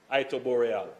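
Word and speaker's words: Iterboreale: 60% of capacity bonnygate 75% of capacity and it tooreal spring that is at zero it tooreal that's the proper pronunciation that is in South East St Mary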